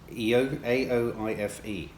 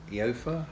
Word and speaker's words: Aoife: Sorry if I pronounce your name incorrectly on this one. Aoife. Eofa?